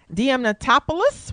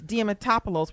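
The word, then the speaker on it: Diamantopoulos: your Curley and Chris DM Tatopoulos will portray Moe I just butchered his name like that mean it's Chris dematopolis will play Jim Carrey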